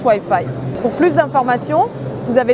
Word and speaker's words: Weye Feye: donc le white faille c'est un petit clin d'oeil au moins huit fille en anglais qui se prononce ouailles faille pour plus d'informations vous